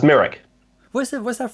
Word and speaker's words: Mirek: about your your name merrick is it pronounced merrick or myrick no merrick uh it's merrick where is it where's